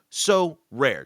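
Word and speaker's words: Sorare: our new sponsor and it's pronounced so rare just want to make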